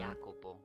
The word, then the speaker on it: Jacopo: Alright, so say it was an H sound. Jacopo. Or a Y sound. It's Spanish is H, Italian Y, okay.